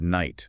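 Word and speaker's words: knight: Take the word night, for instance. Okay. That silent K actually reflects how the word was pronounced in Old English.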